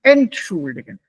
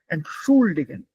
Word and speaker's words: entschuldigen: It's not entschuldigen, entschuldigen.